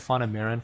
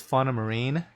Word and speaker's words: Fauna Marin: Merrin fauna marine so somebody who corrected my pronunciation of that I've been calling it fond of mirin for like 10 years or however long I've even known about that brand I guess it's fauna marine which kind of makes